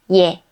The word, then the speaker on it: 예: 예. When we add one more short stroke to 에, a y sound is added before 에. So it becomes 예.